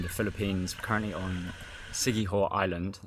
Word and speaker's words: Siquijor: We're currently on Siquijor Island, the J is silent, and we've just been